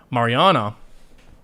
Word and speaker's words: Mariana: video project Mar I always said it wrong Mariana it's this the best bank of international settlement